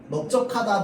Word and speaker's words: 넓적하다: 그런데 이 널이요, 적, 주, 둥을 만나면 어떻게 되는 거야? 넙으로 발음되는 겁니다. 넓적하다, 넓죽하다, 넓둥글다.